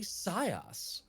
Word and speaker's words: CY_0S: everyone and welcome to Total party scos that's not a mispronunciation total party chaos the crew is having